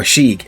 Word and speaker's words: Sieg: Our Joker of the series, Sieg or Shiek as they pronounce it in the show.